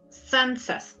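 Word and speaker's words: tsantsas: verdad cómo se llama se escribe con t Z sansas o sea es como que la t no se pronuncia tanto porque está al lado de una consonante pero son sansas Okay Vale bueno básicamente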